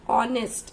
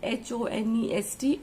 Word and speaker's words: honest: a vowel sound, like honest. If I say H-O-N-E-S-T, honest, so it starts with consonant but it is giving the pronunciation of O, right? H is silent, so we say an honest, okay.